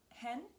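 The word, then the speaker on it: H'Hen: It's Hen, H, and there's an apostrophe and another H, E-N.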